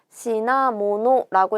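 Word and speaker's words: 品物: 자, 요렇게 생긴 한자고 시나모노라고 읽어서 물품, 물건 또는 상품을 나타내는 단어가 되죠. 요거를 시나라고 읽는 게 훈독이고 힝이라고 읽는 게 음독이에요.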